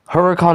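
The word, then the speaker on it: Huracán: You know I mean hurricane you know they say it like in like maybe in Italy they say it Lamborghini huracan but I call it a huracan you know because it's more understandable.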